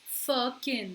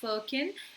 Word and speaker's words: firkin: इट इज़ pronounced as firkin. So remember that it's pronounced as firkin and it is very much a word.